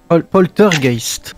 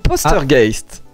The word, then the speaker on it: Postergeist: Poltergeist. Non, j'ai pas mal prononcé. C'est Postergeist. Ok.